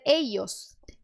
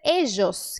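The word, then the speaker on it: ellos: para o dígrafo LL tá então você pode dizer eios bastante comum você também pode dizer ejos que é o que eu faço ejos como se fosse o J do português você também pode usar o DJ que eu digo que é o dia édios você também pode usar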